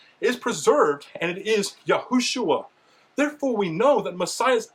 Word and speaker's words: Yahushua: It's not Yehoshua, like they say today, it's Yahushua in the most ancient examples that we have, and the shua is maintained even in that language.